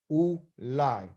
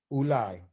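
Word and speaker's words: אולי: Ulai, that's how you say it, ulai, okay?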